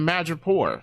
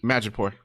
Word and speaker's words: Madripoor: And they end up in Madripoor, which was interesting.